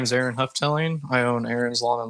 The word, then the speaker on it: Houghtaling: It's Houghtaling. Houghtaling.